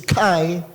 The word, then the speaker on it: chi: Pero I think ang tamang pronunciation diyan hindi naman ako Greek expert I think ke no CI. K sa English Kai no pero ang spelling. Ang pronunciation diyan hindi ch kundi kai.